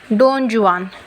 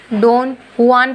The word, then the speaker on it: Don Juan: Hello guys, आज हम पढ़ेंगे डॉन जुआन। सॉरी, इसको हम डॉन जुआन नहीं पढ़ेंगे, डॉन हुआन पढ़ेंगे। इसकी सही प्रोनाउंसिएशन है डॉन हुआन।